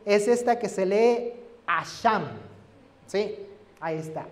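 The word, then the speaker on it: אָשָׁם: La palabra en hebreo es esta que se lee Asham. ¿Sí? Ahí está, Asham. Se escribe así y se pronuncia así, Asham.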